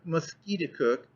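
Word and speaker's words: Musketaquid: name of Concord River you pronounced it mosquito cook emphasizing the second syllable with the peculiar guttural sound instead that it meant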